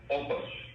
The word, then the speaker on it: Oupes: How do you say the name? Is it Oupes? Oupes. Oupes.